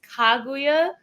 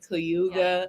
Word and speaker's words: Kaguya: say is it Kya the real terminology or like the real way to pronounce it is kaguya but like kaguya is fine I've definitely got a lot of alternative response like kuga but I'm actually like perfectly fine with either or what does that mean